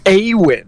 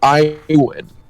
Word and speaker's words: Awin: Oh, it's Awin, not Iwin.